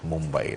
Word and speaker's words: Mumbai: Mumbai, that's how you say it, Mumbai in India.